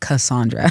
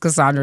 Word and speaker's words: Cassandra: My actual legal government name is Cassandra. You know what I'm saying? It's pronounced Cassandra, not Cassandra.